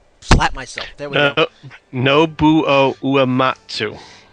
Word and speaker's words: Nobuo Uematsu: Nobuo Uematsu. It's that OU combination that trips me up. Always. I see that and I just kind of slur my way through it.